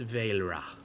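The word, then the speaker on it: Vaelra: Uh I am Mistress Vra. Mistress. How do you spell that?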